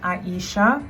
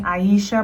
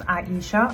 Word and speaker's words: Aisha: that don't know my name is pronounced Aisha I let people call me Aisha but it's pronounced Aisha I'm a 6 foot